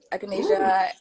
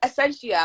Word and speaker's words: echinacea: echinacea, and ginger. What was the middle one? I think it's essentia.